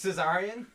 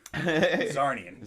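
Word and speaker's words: Czarnian: Caesarian? Zarnian. Zarnian, the C is silent, obviously.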